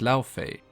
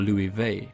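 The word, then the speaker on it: Laufey: name Fey but instead she's referred to as la Fey or lui vey as it's pronounced icelandic with Loki sometimes been referred to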